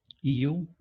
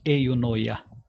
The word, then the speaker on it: eunoia: The word is eunoia, E-U-N-O-I-A. I'll type that in a moment. Some people, because it has a Greek background, call that as eunoia, but I'll stay simpler pronunciation and say eunoia.